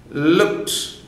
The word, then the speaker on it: looked: Looked. No. Whenever ta and pa is followed by ed, that ed becomes ta. So looked, ed is deleted, whereas we use ta something.